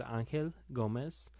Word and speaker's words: Angel Gomez: Would you please pronounce your name the way that is intended to be pronounced? Yes. My name is Angel Gomez.